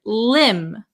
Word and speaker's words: limb: B Marcel very good the B is also silent so we would pronounce this word Lim Lim Lim okay then